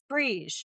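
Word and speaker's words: Bríd: So, everyone calls her Bridget, but it's actually pronounced Breege.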